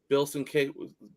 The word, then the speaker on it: Sienkiewicz: They're it's a twofer on this one, and this is Bill Sienkiewicz.